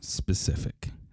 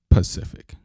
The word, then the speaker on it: specific: covered that last week it's pronounced specific not Pacific we clear on that